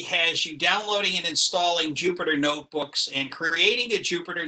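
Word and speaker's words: Jupyter: part-time at UMBC the Jupiter notebooks a few prior if you prefer it's usually pronounced you for notebooks and plot nine or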